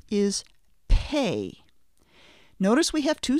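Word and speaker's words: פ: pay not F but when there is no dot in the middle it is pronounced like our English F and in spelling a word that has the pay with no dot we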